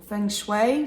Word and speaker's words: Feng Shui: Now I chose Bear, and the color I went for is called Feng Shui, or Feng Shui, some people pronounce it.